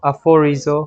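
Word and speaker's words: ἀφορίζω: aphorizo, 여기 F 발음 나죠.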